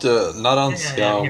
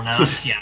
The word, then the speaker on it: Narancia: Honest, I thought Narancia was a girl first.